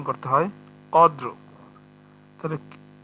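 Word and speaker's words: قدر: এই জন্য ওয়াকফ করার সময় দুইটা হরফে আমাদের উচ্চারণে নিয়ে আসতে হবে, এজন্য এরকম করে উচ্চারণ করতে হবে, কদ্র, কদর যেন না হয়ে যায়, এরকম হবে কদ্র।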